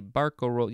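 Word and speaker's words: barcarolle: a bar carol or would it be let's see barco roll yeah that's how it's pronounced uh this is french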